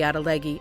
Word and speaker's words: atlatl: Atlatl. That's how I pronounce it and it means you throw it further.